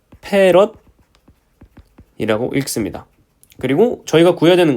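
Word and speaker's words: 패럿: 제가 아까 말씀을 안 드렸는데 커패시턴스의 단위는 F라고 쓰고요. 페럿이라고 읽습니다.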